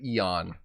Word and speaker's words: Eaon: So, how did Ian get started? Not Ian, but Eon.